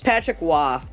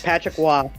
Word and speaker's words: Patrick Roy: win against Winnipeg Jets at The Forum it's Patrick Wah I know for some reason Roy is percent uh pronounced yeah that's Patrick Wah yeah it's Patrick Wah it's one of the